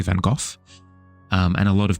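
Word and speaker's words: Van Gogh: Where a lot of people were referring to him as um uh Van Go. And uh then people have since come along and said, "No, no, no, no, no." Like via the correct pronunciation, it's actually Van Go.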